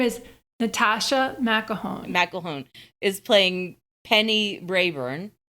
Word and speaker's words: McElhone: And Natascha I don't know how to pronounce her name. I have it. Okay. Her name is Natascha McElhone.